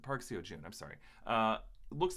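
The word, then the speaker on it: Park Seo-joon: it's for um okay Park see a hoon's character no I mispronounced it Park SEO June I'm sorry uh looks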